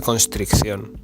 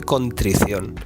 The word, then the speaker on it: contrición: Monty habló de hacer acto de constricción. Y no se dice así, no es del verbo constreñir, es acto de contrición. Sin S y con una sola C.